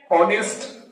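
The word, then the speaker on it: honest: विशाल city आहे शीन ऑनेस्ट woman पहा आता इथन आल कारण एच वरून सुरुवात जरी असेल पण ऑनेस्ट म्हणतो आपण प्रोनन्सिएशनला आपण काय करतो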